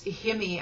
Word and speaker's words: heme: The body does not produce heme, I think is how it's pronounced, H-E-M-E, and you nursing students will know what I'm talking about.